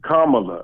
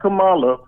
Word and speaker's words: Kamala: __ ] had him the proper pronunciation of that senator's name is kamala not kamala kamala look it up thank you pulse